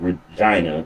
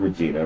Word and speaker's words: Regina: There's going to be another AEW Rampage live from Brant Center in Regina. Not Regina, Regina is how they pronounce it. Okay. Like it rhymes with vagina.